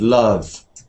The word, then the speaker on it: love: the same vow sound come up and love in fact love some that's a so